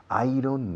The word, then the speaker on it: iron: No, iron, no. Iron. ¿Cómo? Iron. Yo, como si dijeras, yo gano. I earn. Acentuando I. Iron.